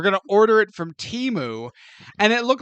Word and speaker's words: Temu: First of all, it's pronounced Temu. No, it's not. Yes, actually it is. I saw a commercial for it the other day, and it was like, order on Temu.